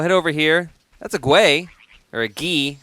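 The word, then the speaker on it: Guay: That's a Gwei, or a Ghee. I gotta remember that's pronounced Ghee. Like Indian butter.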